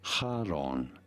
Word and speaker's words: Charon: Sharon Sharon Karen oh Karen is the American pronunciation and I'm American so I win Karen Karin British is Charon American is Karen but what's probably the accurate one pronouncing it for reference in Greek this is said as Haron Haron Haron Haron however in English it is usually pronounced as Kon yeah Karen Karen moment